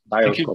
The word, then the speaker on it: Dioscope: Dioscope or Dioscope? How do you pronounce it? Dioscope.